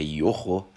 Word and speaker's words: Yoro: francês do Manchester United não é ioro né é yoro é voui aprender agora